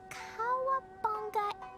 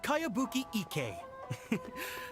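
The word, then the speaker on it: Kayabuki Ikkei: By Kawabunga Iki. Yoimiya. Kawabunga Really Iki. strange name. Kawabunga! Who's this Kawabunga? It's pronounced Kayabuki Ike.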